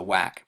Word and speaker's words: WAC: or the WAC and this was later shortened to just one a but still pronounced the same to WAC and you had over